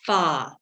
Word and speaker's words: pho: get a thing called pho broth which is pronounced pha froth it's vietnamese yeah yeah yeah it has